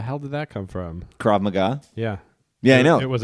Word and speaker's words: Krav Maga: How is that pronounced? Krav Maga. Krav Maga.